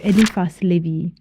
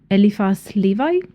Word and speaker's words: Éliphas Lévi: We begin our exploration by setting the historical context for Éliphas Lévi, originally known as Alphonse Louis Constant, and often called by English native speakers as Éliphas Lévi, but I will go for the French pronunciation.